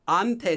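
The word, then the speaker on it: 한테: From someone, hante. You can use hante. The reason is hante so, or pronounced just as ante so.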